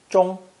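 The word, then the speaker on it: 中: center or middle and is pronounced first tone most people recognize it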